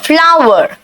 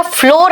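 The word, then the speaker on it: flour: Shift और सीव द फ्लावर। बेटा फ्लोर नहीं कहना इसको। यह फ्लोर नहीं होता है। इसका उच्चारण वही है जो फ्लावर यानी फूल का उच्चारण है।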